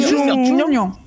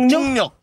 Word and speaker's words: 중력: C'est Jungryeok. Yeah, Jungryeok. Jungryeok. Jungryeok. Jungryeok. Yes. Jungryeok. Jungryeok. Jungryeok. Jungryeok. 완벽해요. 완벽해요. 오케이.